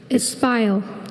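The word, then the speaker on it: espial: The private investigator withdrew from his place of espile once he had obtained several incriminating photos. Espile. Are there any alternate pronunciations?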